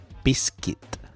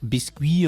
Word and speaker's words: biscuit: So it's not biscuit or biscuit. Okay, it is biscuit. Nice and easy and short and very, very precise.